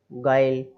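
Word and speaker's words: guile: तो देखिए आई, आई के पहले, आई एक वोवल है, उसके पहले यू आ रहा है तो हमने वो साइलेंट कर दिया, है ना। और यू के पहले जी है तो जी और आई उनके बीच में आ रहा है यू, तो वो साइलेंट हो गया, है ना।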